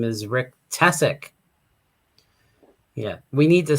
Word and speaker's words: Tkaczyk: my pipeline stream and his name is Rick tessic yeah we need to say his name because